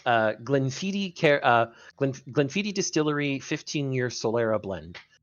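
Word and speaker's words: Glenfiddich: gleniti care uh Glen gleniti Distillery 15year Solera blend gleni is not spelled the way it sounds because is that how you pronounce it I thought it was Glen fittit you got it right hell yes but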